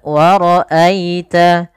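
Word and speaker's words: وَرَأَيْتَ: Pada lafal wara'aita di sini ada bacaan lin. Ditandai dengan adanya huruf ya sukun yang didahului dengan huruf fathah, maka lembut dalam pelafalannya.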